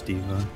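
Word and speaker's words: D.Va: lacking the team tips how would you say her name Kyle diva its diva you guys are flying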